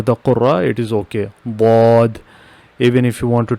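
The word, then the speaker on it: ض: When I pronounce here bod, I am touching my tongue on the back side of the upper teeth.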